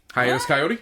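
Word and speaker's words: Hiatus Kaiyote: to him day 20 Hiatus coyota how do you say their name hiatus kyot yes okay oh you listen how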